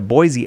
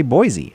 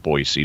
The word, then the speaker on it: Boise: In English, when we have a letter S between two vowels, it is frequently pronounced like the letter Z.